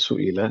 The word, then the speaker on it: سئل: Yang atas sa'ala, yang bawah su'ila.